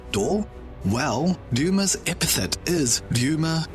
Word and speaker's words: D: By the way, remember in the Christmas Piece video how I mentioned that the D of the D clan is pronounced as Dor?